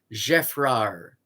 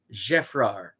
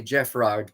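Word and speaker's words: Geffrard: is spelled g-e-f-f r-a-r-d because it's french you don't pronounce the d at the end jeff rar jefrar so you'll see the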